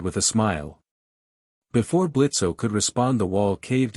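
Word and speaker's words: Blitzø: "The name is Blitz." The O is silent, Blitzo said as he approached Luke Day.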